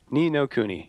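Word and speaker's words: Ni no Kuni: nino Kenny anymore but how's it pronounce properly me no kuni knee no kuni yeah okay I know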